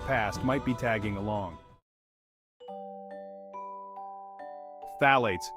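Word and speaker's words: phthalates: from the toxic past might be tagging along phalates say it with me now th eights tricky to pronounce even trickier to avoid these chemicals lurk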